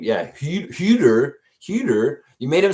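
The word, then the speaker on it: Huerter: You didn't spell it exactly right. Uh Kevin Herder is his name. Yeah. Hu Huer.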